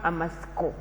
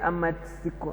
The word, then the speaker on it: amatsiko: We have amasko. Amasiko. This T is silent. We don't hear that T. If you say amatsiko, no, it is amasko.